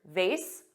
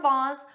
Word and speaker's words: vase: adopt British pronunciation, but for this specific word, vase or vase, both are commonly used in North America.